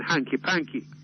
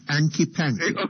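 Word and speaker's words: hanky-panky: any may I use the Expression Hanky Panky no no the pronunciation sir is anky Panky okay okay in which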